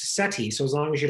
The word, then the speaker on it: SETI: what you're after um amusingly all of these things are pronounced seti so as long as